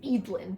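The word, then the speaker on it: Eadlyn: And if America was annoying, Eid is the most stupidest Oh, her name's Eid, by the way. It's spelled E A D L Y N.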